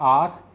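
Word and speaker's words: ਆਸ: इसका उच्चारण रहता है आस।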